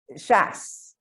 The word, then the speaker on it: Schaus: No, I've actually been doing everything Miss I don't want to say it incorrectly, Schaus? Rhymes with house. Schaus. House. Rhymes with house. Okay. Schaus.